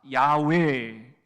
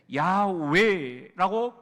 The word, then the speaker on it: 야훼: 이것을 성경 원어로 발음을 할 때는 따라합시다. 야훼, 야훼라고 발음을 하는데요, 나는 스스로 있는 자다, 그런 뜻이에요.